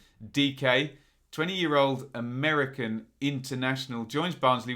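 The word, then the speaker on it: Dike: And do not say Dyke is the rule here. They've been very clear. Pronounced DK. This is Daryl DK.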